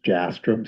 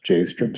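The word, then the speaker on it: Jastram: Uh I believe the pronunciation is Jastrom Street, not Jstrom Street.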